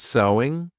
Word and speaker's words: sewing: And did you get sewing? Because of course the pronunciation is the same as sew. There's no sewing, though adding an ing. So sewing is the activity, but the pronunciation is the same as the word.